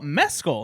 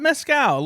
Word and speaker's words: Mescal: season 50 hosted by Paul Mescal not mcow learn something in this episode pronounce his name he not a smoky drink I this was a